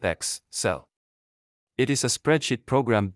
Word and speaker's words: Excel: Excel is pronounced X-cell.